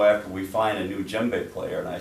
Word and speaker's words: djembe: do you play the djembe as well? Is that how you pronounce it?